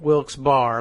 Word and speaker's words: Wilkes-Barre: in wilkes-barre Pennsylvania and that is spelled wilkes-barre like ba RR e but it's wilkes-barre they say and just as though our one word but I wonder if